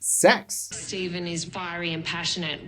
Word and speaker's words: sex: mention that you know the number six in Latin is pronounced sex Stephen is fiery and